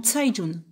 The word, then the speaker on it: Cai Jun: plutôt de kayes john figure toi que le ces se prononce ce en chinois dont saïd jaune ok je prends note